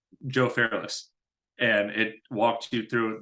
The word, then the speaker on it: Fairless: best syndication book by Joe Ferris is that correct I believe it's called the best ever syndication book by Joe Fairless Fairless okay I can't pronounce people's names today yeah Fair less l-e-s-s okay I know the name